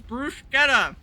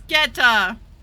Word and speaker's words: bruschetta: You're pronouncing it wrong. God It damn. always sounded weird to me. It's sketta. Bruschetta.